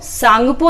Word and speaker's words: सांगपो: लेकिन तिब्बत में ब्रह्मपुत्र नदी को सांगपो नदी कहा जाता है। इसमें टी साइलेंट होता है, सांगपो, जिसका हिंदी में अर्थ होता है शोधक, या फिर इसको यारलुंग सांगपो नदी कहा जाता है।